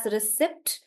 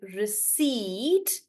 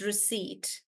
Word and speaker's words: receipt: So it uh in India we pronounce or Indians pronounce this as recept because they read it as it is. Remember how I told you that in India we read every letter. So um this they read this also as receipt but it's actually receipt. It's receipt.